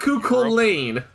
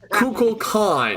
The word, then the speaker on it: Kukulkan: Kukulane from like Not Kukul Lane. Not the Lancer. Not the one who called himself Mario in Fate Abridged. Kukul Khan.